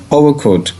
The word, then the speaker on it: overcoat: ये देखें, ये है वर्ड OVER, तो इसे बेटा आपने ओवर, ये देखें ओवर नहीं इसे प्रोनाउंस करते। आपको पता ना, ये जो ओ कहते हैं ये असल में ओ साउंड करता है, तो ओवर। और ये आर जो है ये भी आपको पता है ब्रिटिश जो है इसे प्रोनाउंस नहीं करते डिस्टिंक्टिवली, तो आपने उसे अनस्ट्रेस्ड रखना है।